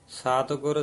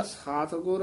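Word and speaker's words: ਸਤਿਗੁਰ: खाट दर्शन जोगी सन्यासी, बिन गुर भरम भुलाए, सात गुर सेव है। जेड़ा सात गुर ए ना पोला नहीं बोलना, सत गुर ऐ बोलना।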